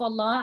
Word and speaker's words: Allah: before the name of Allah we know that we pronounce that lamb in the name of Allah heavy so it's Allah who saw